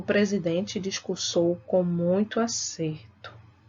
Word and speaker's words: acerto: né eu pego acertar então escuta é a pronúncia o acerto e acerto acerto ea certo eu tenho diferença tem então observe que